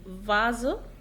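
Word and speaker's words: Vase: ايه بقى لو هو اصلا الكلمة اصلها من الانجليش او جاي في اول الكلام فبتنطق في عادي زي فازو، فازو، او فيديو، فيديو.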